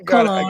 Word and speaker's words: Cologne: Koh, and then Lone, I believe. But Tate, bring her on. Let's keep rocking this thing. You got it. You got it right there, Ryan. Cologne.